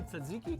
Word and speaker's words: tzatziki: How do you say tzatziki?